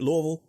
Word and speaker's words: Louisville: So now we're talking to David Lynch with Simonon Realty in Louisville, Kentucky. Am I pronouncing it right, David? Louisville?